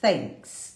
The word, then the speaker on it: thanks: falar, mas às vezes antes você falava com um F, e não é um F, tá?